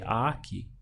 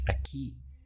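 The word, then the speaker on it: aquí: is that I push down I stress the syllable before last so I would say Aki but that's not how the word is pronounced in Spanish it's a key and to indicate that this word has broken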